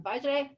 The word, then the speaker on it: Vajre: funnel podcast host and co-founder of terminus sangrem vajray and just tell me how do you how do you pronounce your last name so i'm pronouncing it